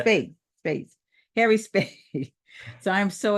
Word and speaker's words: Spaight: And I got a great guest who actually educated me before we started this, Harry Spat. Spat? Is that how you say it, Spaight. Harry? Spaight. Spate, like Yeah. Spade.